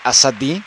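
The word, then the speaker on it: Azadi: de hecho puude cre lo pronuncie mal también significa es un nombre común en Irán persa y pero lo correcto sería asad como remarcar mucho las vocales las dos as y hoy quiere decir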